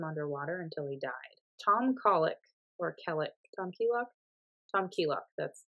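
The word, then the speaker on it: Keylock: Tom Keelock, that's how you pronounce his last name, which is the band's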